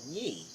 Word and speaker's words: Yee: I guess Well, it is Yee. anyway, Oh, yes. is it? Could you Now- spell it?